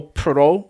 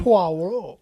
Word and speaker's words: Poirot: And I believe, and it's of the character Hercule Poirot. Is that how you pronounce his name? Poirot.